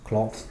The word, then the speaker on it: cloths: Cloths, trapos. Cloths. Cloths with no E, just CLOTHS is the plural of cloth, trapo, trapos. So there the vowel sound is different. O for cloth and O for clothes.